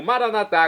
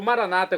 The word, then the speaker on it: Maranatá: E agora eu clamo Maranatá, como dizemos nós católicos, ou Maranata, como dizem nossos irmãos separados das comunidades evangélicas ou protestantes. Não importa a pronúncia, o significado é o mesmo, a parousia, o juízo final.